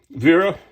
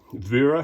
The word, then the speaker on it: Wera: um so anyway so Vera I'm just assuming that's how it's pronounced because the Germans often do the W's as v's and the v's is W so Vera hex Plus multi-color comes